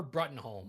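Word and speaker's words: Bruttenholm: At some point, the aptly named baby Hellboy or Hellbaby is found by a man named Trevor Brethenholm. His last name is pronounced broom, though.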